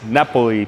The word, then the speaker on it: Napoli: Napoli? Yes. Napoli pizza oven.